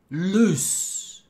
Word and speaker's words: loose: want you not today listen to the pronunciation of this okay lose loose lose loose so this is a long one this is to lose lose it's a long one and this one short loose but they're not connected